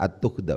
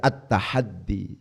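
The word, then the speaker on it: التحدي: Kok tidak dibaca at-tuhda, Ustaz? Kenapa kok dibaca at-tahaddi? Ya itu karena memang tahadda.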